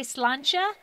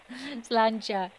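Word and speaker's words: sláinte: Armenia, but I say slancha. So cheers. Slancha. Slancha. Okay. What language is slancha? It's Gaelic. Gaelic. Okay. Gaelic. Slancha. A little Irish. There we go. Slancha.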